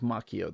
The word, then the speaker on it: Macchio: here by Ralph Macchio I think the way he pronounces it is Macchio though please correct me if I'm wrong not the Karate Kid that guy pronounces it Macho uh this introduction is